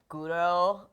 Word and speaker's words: guro: So, there is um like a a genre of manga that's like guro. Okay. Uh like the Japanese pronunciation for gore.